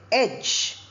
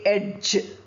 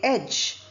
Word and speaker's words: edge: We say edge. We don't say edge. D, j, we don't say together. We say edge.